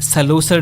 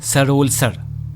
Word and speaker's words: सरोलसर: सबसे पहली बात, सरोलसर नहीं, सरोलसर, सरोलसर।